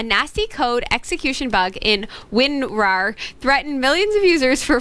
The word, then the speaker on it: WinRAR: get that one right RAR winrar win roar like a lion jaylen wants to remind you say it like a lion rawr winrar but i'll say like